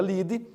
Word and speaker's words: lead: título se chama ligue se escreve lead mas se pronuncia lide da reportagem diga quais